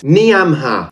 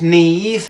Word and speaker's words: Niamh: Niamha. It's pronounced Neve.